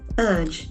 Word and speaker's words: urge: well as a noun urge urge we can observe that the middle R is silent you strongly advise or